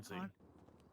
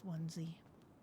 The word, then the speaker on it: onesie: I could see you working that Yeah. out. But it's onesie.